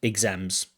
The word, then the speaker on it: exams: exams not exams but exams it almost sounds like an Iz exams exams but importantly stri press on the second syllable not the first exams so you just